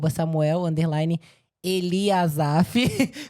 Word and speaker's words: Samuel Eliasafe: Pra quem pode estar assistindo o episódio e não me conhece, meu Instagram é @Samuel_Eliasaf com S e com E no final, não é mudo.